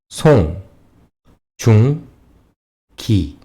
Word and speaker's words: 송중기: 송, 중, 기.